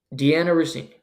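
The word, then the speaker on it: Dianna Russini: Can't even pronounce her name. Deanna Rossini.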